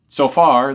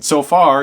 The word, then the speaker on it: Zophar: But now the third friend, Tsophar, the Naamathite, speaks up. And Tsophar, even though it's spelled with a Z, we could spell it with a Tsophar.